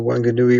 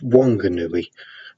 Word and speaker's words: Whanganui: good new e river it's sort of pronounced one good newbie that excited is a bit of a debate and the WH rule doesn't seem to work on the west of New Zealand it was very very